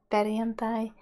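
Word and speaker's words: perjantai: in finnish is periantae periyantai here is important to remember how jay is pronounced in finnish it's i and um saturday in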